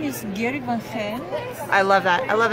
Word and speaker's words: Van Gent: My name is Gerry Van Hen.